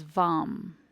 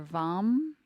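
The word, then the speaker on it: वं: for water Jala is vom and it can be pronounced either vom by closing the lips with an M or Vang which is pronounced like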